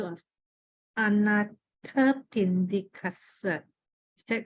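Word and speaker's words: Anāthapiṇḍikassa: I just want to check the pronunciation of Anathapindikasa. Is that correct? Can you repeat again? Anathapindikasa.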